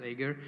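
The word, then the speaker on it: Jaeger: using agar so agar as you see like it's j-a-e-g-r and we spell it as Ager so Ager is nothing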